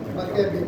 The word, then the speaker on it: Maccabean: क्या बोलते हैं, मक्केबियन। स्पेलिंग है MACCABEAN, मक्केबियन पीरियड, या बोलते हैं इंडिपेंडेंट पीरियड।